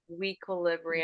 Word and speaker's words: Weequilibrium: I think it's like equilibrium, Weequilibrium. It, equilibrium. it, So yeah. it was just a little like blurred in one syllable there.